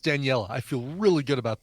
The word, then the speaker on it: Daniela: All right, so yes, Daniela Andrade, I don't know how her last name is pronounced, but her first name is pronounced Daniela.